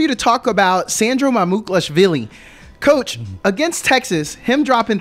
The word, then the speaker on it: Mamukelashvili: I'd like for you to talk about Sandro Mamukelashvili.